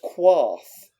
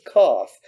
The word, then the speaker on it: Qarth: Daenerys accidentally calls it Quarth, and the Spice King corrects her and says Qarth. She would only make that mistake if she'd seen it written down. Oh, good point. You would only mispronounce that if you'd seen it written down. Yeah, you'd see the QA.